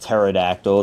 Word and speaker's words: pterodactyl: I know it's pronounced pterodactyl. The P is silent.